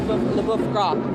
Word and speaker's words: Boeuf Gras: This is the Boeuf Gras. That's it. Did I pronounce that correctly?